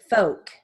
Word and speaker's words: folk: now moving on to silent l words with sentences so we have half palm talk psalm walk folk all right here are